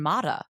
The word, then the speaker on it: Matta: And he said, "It's always been Matta."